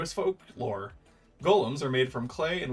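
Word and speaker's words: GAULEM: DM much to surpris this ends up being pronounced like Golem anyway on a side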